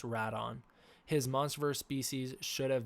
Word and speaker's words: Rodan: it is actually pronounced rat on but I say Rodan because that is again the preferred Toho pronunciation and that's also what